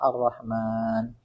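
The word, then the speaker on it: الرحمن: pembacaan beda seperti Arrahman Arrahman kan gini mim mimnya enggak ada Alif setelahnya tapi dibacanya panjang Arrahman tapi kan sudah dipermula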